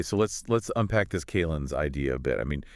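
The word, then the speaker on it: calends: It's almost described as a uh kalin's. That's c a l e n ds pronounced like calendar without the r and with the z sound at the end.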